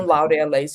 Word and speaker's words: Laureles: Okay, Laureles. Okay, like laurels. Okay.